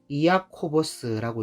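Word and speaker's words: Ἰάκωβος: 야고보라는 이름은 헬라어로 이아코보스라고 읽는데 이 이름은 야곱이라는 이름에서 나온 같은 이름입니다.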